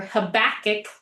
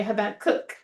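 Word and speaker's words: Habakkuk: So like instead of uh if you're thinking habakook or habachic, you know, habach would not be the right way. Habacook, it's the syllable. U is on the last syllable.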